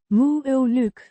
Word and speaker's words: moeilijk: Pronounced. Moo-uh-luk. The Ei. makes a sound similar to the I in my.